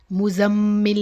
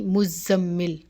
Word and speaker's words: مزمل: اوپر تشدید ہے اور زا کو بھی مشدد ہی پڑھیں گے میم کے ساتھ ملا کے، مزمل نہیں مزمل۔ اور بعض جو ہیں